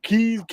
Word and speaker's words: quays: Then I found out there was wharfs and all kinds of quays and quays or keys. That's how you say it, keys, and all these shipping areas.